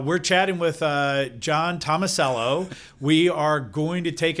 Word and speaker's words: Tomasello: don't believe that well she probably still says thomas ellie uh she probably does